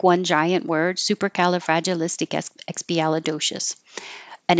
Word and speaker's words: supercalifragilisticexpialidocious: at Mary Poppins so it's written like one giant word and it does sound like one giant word supercalifragilisticexpialidocious and it's it's a